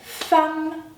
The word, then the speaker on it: femme: Enfin, si la lettre E est succédée et suivie de deux M, dans ce cas-là, la lettre E se prononce A, comme dans le mot femme. E, M, M, A, femme.